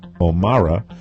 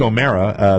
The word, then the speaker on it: O'Mara: schedule anticipated by Mark O'Mara. I always pronounce it that way. You would separate yourself from him. He doesn't put the E in there. Mark O'Mara, they say the presentation